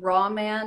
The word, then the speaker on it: Raw Man: on a cartoon called raw man and green girl roman like roman not roma not my first name